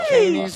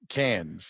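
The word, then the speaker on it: Cannes: No, it's Cans. It's a can. Yeah. Yeah, it's a it's can the Canfield film festival. You don't even pronounce the S.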